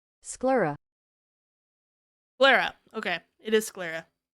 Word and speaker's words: sclera: How do you pronounce this fucking word? Hold on. Sclera. Sclera. Okay, it is Sclera.